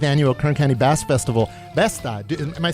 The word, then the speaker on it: Besta: I'm going to keep reminding everybody that the 50th annual Kern County Basque Festival, Besta, am I saying it right? Besta, yeah.